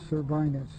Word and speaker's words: cervinus: Plutus, P-L-U-T-E-U-S, cervinus, C-E-R-V-I-N.